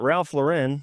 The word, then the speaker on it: Ralph Lauren: So I also learned the correct pronunciation. This might blow your mind. Is Polo Ralph Lauren. It's not Ralph Lauren.